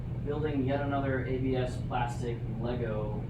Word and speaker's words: Lego: yet another ABS plastic Lego version of a thing, or as it's pronounced on the continent, Lego.